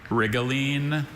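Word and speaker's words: rhigolene: Oh, can you say the pronunciations, please? Rigaline, rigalin.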